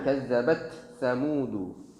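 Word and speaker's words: كذبت ثمود: Ini cara pengucapannya tidak boleh diputus. Bukan kazzabat Thamud, tidak boleh. Kazzabat sa. Itu agak susah ya. Kazzabat sa. Dan agak cepat di situ pengucapannya.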